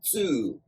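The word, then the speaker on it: 痛: And the onyomi, which is the traditional or original Chinese pronunciation of this kanji, is tsu.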